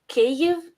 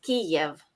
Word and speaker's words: Kyiv: Yeah, so the Ukrainian pronunciation was Y, Kyiv, and then the Russian is Kiev, was IE.